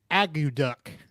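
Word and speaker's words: akutaq: it really yeah uh the way we pronounce is uh agu duck aggy duck then why not spell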